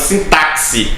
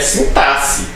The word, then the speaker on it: sintaxe: Uma coisa muito interessante, por exemplo, é que eu passei a vida inteira, né, quando eu fazia ensino fundamental, dizendo que eu tinha aula de sintaxe, né? Mas não, quando eu cheguei no ensino superior, a professora disse, não, isso aqui é sintaxe, tá?